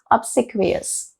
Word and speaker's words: obsequious: Please learn it with me, and pronunciation is slightly on the harder side, but you'll get it. Even I got it with some difficulty, but I did get it. It's obsequious, okay?